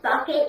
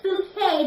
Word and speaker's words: Bucket: Bucket," and she says, "No, it's Bouquet," because she doesn't like to be pronounced Bucket, don't you?